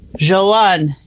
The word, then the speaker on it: Joanne: Joanne, did I say that right? That French pronunciation?